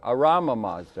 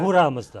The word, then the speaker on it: Ahura Mazda: Arama Mazda or something. Arama is that? Ahura Mazda.